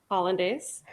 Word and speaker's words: hollandaise: the the the h1 it's hollandaise yes that I can't say that it's like country Holland Holland the country Holland right and then like